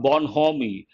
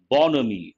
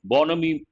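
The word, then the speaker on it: bonhomie: here h is silent bonomi how do you pronounce this not born homie bonomi bonomi could be a french word again part of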